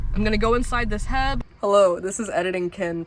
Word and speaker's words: H-E-B: I'm gonna go inside this Heb. Hello, this is Editing Ken from the future. So since recording this video, I have learned that it's pronounced H-E-B and not Heb.